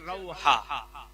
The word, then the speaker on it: রুহা: জায়গাটার নাম রুহা, বাংলায় কোন কিতাবে লেখা আছে রৌহা, তাহলে রুহা মনে রাখেন, এটা সঠিক উচ্চারণ।